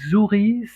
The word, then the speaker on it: Zouhri: Alors, pour dire exactement, moi je dis Zuri, ça s'écrit Zouhri. Voilà.